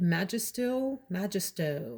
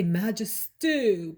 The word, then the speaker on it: Majestueux: On Tuesday, I wore Oud Majestueux. I always want to say Majestueux, but it's Majestueux by Thierry Mugler.